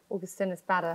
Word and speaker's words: Augustinus Bader: Augustinus Bader.